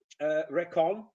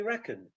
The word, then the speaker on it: reckon: and we say mustache polish people say recon english people say reckon an effort in english